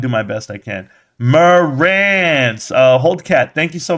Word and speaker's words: Marantz: you know, growing up, nobody knew how to say my name. Teachers would call me Meritance, Marantes, Martinez, and hardly ever Morance.